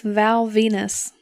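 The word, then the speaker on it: Val Venis: he was featured AS Val Venus I cannot Women Are from Venus it rhymes with penis I know but women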